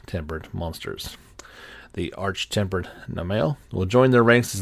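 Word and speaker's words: Namielle: rink Kul terth and Arch tempered Nale I guess that's how you say it m m i e l l e and these are some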